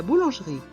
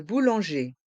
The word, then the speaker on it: boulanger: boulangère la boulangère le boulanger le bouanger les deux dernières lettres le E et le r se prononce e le boulanger le boulanger